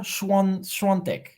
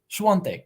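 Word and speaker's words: Świątek: Iga, but the thing is, it sounds like there should be an N when they pronounce it. Iga Schwantek. Schwantek. Is that correct? Iga Schwantek.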